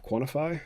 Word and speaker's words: QNTFY: I'm the founder and CEO of Quantify. That's spelled QNTFY, and we're a small mental health